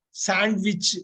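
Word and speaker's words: sandwich: வந்து சாண்ட்விச் சாப்பிடுவோம் இல்லைங்களா சாண்ட்விச் சாண்ட்ன்னு சொல்லிடக்கூடாது இருக்குங்கறதுனால சொல்லிடக்கூடாது சாண்ட்விச் அந்த டி இருக்குங்கறதுனால அதை உச்சரித்துடக்கூடாது சாண்ட்விச் சாண்ட்விச்ல காலை அந்த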